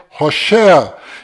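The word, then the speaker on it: Hoshea: Este nome que você está vendo é o nome de Oséias, que do qual Moisés mudou para Josué, mas a pronúncia correta de Oséias é Rochéa.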